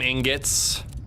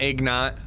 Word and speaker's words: ingots: Let's make some ingots. Ingots is the right way to say it, not ignot.